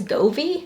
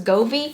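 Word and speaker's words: Govee: from i think it's govi i think that's how it's pronounced as govi but this is really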